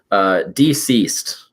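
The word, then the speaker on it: DCeased: books, the big thing, Deceased. Like DC Comics and then like Deceased. Interesting. Okay. Yeah, so it's spelled DCEASE D, so deceased.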